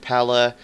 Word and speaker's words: Pellè: be gratiano Pella and I've heard that's how they pronounce his name Pella instead of Pelle which everybody has been saying pretty much in in the FIFA Community but I'm pretty sure